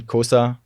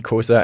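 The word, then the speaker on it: Xhosa: The kosa kosa nuni proverb that is described in kosa. Please excuse my pronunciation. This is like a horse riding click.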